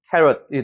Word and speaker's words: carrot: 앞에 캐의 강세가 있죠. 그래서 carrot이 되는 거예요.